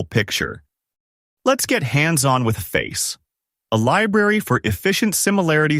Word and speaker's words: Faiss: And when we get into Faiss, Facebook AI Similarity Search, pronounced Face, in the next scene, you'll see how these indexes can bring it all together.